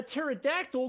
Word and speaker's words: pterodactyl: Why Why can't you hear a pterodactyl going to the bathroom? Why not? Why? Because the P is silent.